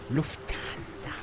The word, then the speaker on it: Lufthansa: Lufthansa.